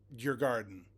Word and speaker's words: Djurgården: full season with, and I'm probably going to destroy this, but Djurgården, I guess is how you say it.